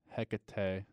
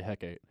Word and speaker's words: Hecate: yet I guess Hecate I think it's not Hecate this has two pronunciations okay we'll say Hecate goddess of magic crossroads